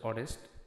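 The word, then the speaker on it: honest: এখানে আপনারা হরেস্ট বলবেন না। এখানে উচ্চারণটা হচ্ছে অনেস্ট।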